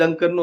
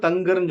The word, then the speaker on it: தன்கர்: அந்த ஜெகதீப் தன்கரோட பேர் வந்து அதாவது இங்கிலீஷ்ல வந்துடிஹ எஜிஆர்னா தங்கர்னு சொல்லலாம். பட் அவரோட பேர் வந்துடிஹ கேஹஏஆர் அப்படிங்கும்போது அத தன்கர் அப்படிதான் சொல்லணும் பட் தமிழ் செய்தித்தாள்களும் தமிழ் ஊடங்களும் தங்கர் தங்கர் தங்கர் சொல்றாங்க இந்த உச்சரிப்பே எப்படி உச்சரிக்கிறதுன்னு